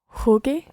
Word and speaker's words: jugué: football, you would say Jugué. jugué al fútbol. And what would happen to the jugué? You would need a UE. Exactly. You would spell that Jugue acute. Jugué. Jugué. But the U is silent in there.